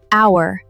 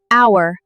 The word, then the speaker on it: hour: Because the H is silent. We don't pronounce it. Listen carefully. Hour, honest, honor, air.